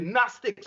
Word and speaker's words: Gnostic: That's when they set it to and it's the Gnostics with an N. You check? Because if you realize they used to the G silent.